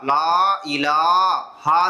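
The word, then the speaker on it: لا إله: உச்சரிக்கணுமோ அப்படி உச்சரிக்க செய்யணும் இது வந்து லான்னு இழுக்கணும் இது இ ஹரக்கத் இது லான்னு இழுக்கணும் இது ஹ அப்போ குறில் நெடியில் இதுலயும் இருக்க செய்து அப்ப இதை குறிலா படிக்கணும் இதை நெடிலா படிக்கணும் இது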